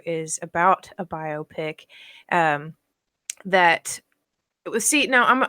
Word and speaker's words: biopic: say biopic biopic biopic I call a biopic because it's a pick that is a biography a biopic okay so this article in battery 2 is about a biopic that the seat now